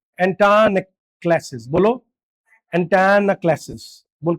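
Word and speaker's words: antanaclasis: ये ये प्रोनाउंस करने में थोड़ा टफ है। एंटायन क्लासेस। बोलो। एंटाना क्लासेस बोल के दिखाओ।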